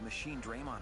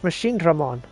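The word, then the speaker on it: Machinedramon: How dangerous are all these machine Draymon attacks? They're very dangerous. Sword is gonna lose his shit with this dude. I'm gonna lose my shit with all these people pronouncing it wrong. It's Machine Dramon.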